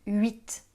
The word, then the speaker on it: huit: Ok, alors les H des mots huile, huître et huit, ne se prononcent pas.